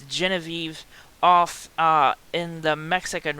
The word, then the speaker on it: Genevieve: is excuse me genevieve it's a weird pronunciation i was gonna say guinevere but it's genevive off uh in the